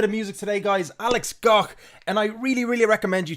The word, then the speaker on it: Gough: So I pronounce it GOUGH, like Van Gogh.